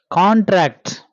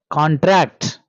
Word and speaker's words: contract: word stress contract versus contract contract is noun contract is verb this word can be used both as noun and verb but we have to give stress at the beginning for the noun and stress at the